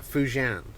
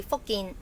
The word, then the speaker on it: Fujian: Would I pronounce that Fujian? Fujian. Fujian, but spelled F-U-J, isn't it? Cantonese should be Fokin. Oh, Fokin. Okay, so it's different.